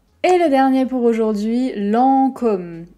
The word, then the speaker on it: Lancôme: le dernier pour aujourd'hui lancôme alors normalement avec l'accent circonflexe comme ça sur le haut on va dire aux très fermé l'an comme lancôme pour la réalité c'est que moi je prononce plus comme sommes beaucoup plus ouvert que le ô lancôme comme vous voulez lancôme lents comme